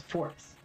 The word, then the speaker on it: Fortis: No, it's Fortis. All right. That's pronunciations in action.